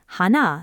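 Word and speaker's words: 鼻: Hana sounds just like Hana, the word for flower, a flower in the middle of your face.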